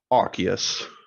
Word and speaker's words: Arceus: Arceus.